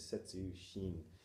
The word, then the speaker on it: Sesshin: like psychologically vomiting, because Sesshin is Setsu Shin, which is Setsu in this case. There's a lot of words in Japanese that are pronounced Setsu.